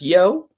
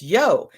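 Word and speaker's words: Yeo: We've got a great guest today, Yo. Yo, yes, it's spelled Y-E-O, but it's Yo.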